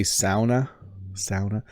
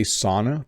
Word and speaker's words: sauna: I think you're supposed to say sauna. I say sauna. That is the bad North American pronunciation of this.